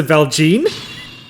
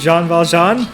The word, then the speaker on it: Jean Valjean: didn't watch Les Mis because you pronounce the velgene sure I mean I don't know what it's pronounced like stop falls John okay this is Jean Valjean the main character of